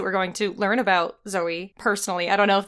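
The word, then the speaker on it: Zoë: Zoe is pronounced Zoe. It's regular. Good. Even with the accent mark.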